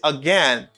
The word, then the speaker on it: again: The stress and again is in the second syllable. I say again.